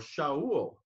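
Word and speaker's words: שָׁאוּל: from Saul to Paul or show would be the Hebrew way to pronounce that from a shovel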